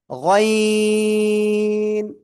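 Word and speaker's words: غ: ওই জিহ্বার গোড়া, এক কথায় আমি যদি বলি, ওই যে গলার শেষ ভাগ, ওই জায়গা থেকে এটা মোট আওয়াজে উচ্চারণ করব। গয়িন, গয়িন।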